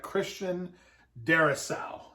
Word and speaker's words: Christian Darrisaw: I got him taking the tackle from Virginia Tech, Christian Darrisaw is how you say his name, I believe.